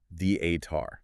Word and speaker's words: theater: The accent is heavily on the first syllable, the-a-tar.